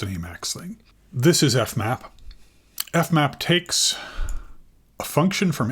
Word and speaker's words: fmap: Class functor of k is how I read it, where, and then this is pronounced fmap.